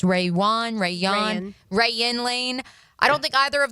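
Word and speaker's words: Rayuan Lane: I don't believe Caleb Ransaw or Raywan Lane, how we determined it's pronounced, Rayan Lane.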